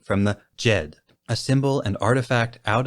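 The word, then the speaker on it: Djed: behind a curious name the jed which when written out in a latin alphabet is spelled d-j-e-d was a symbol used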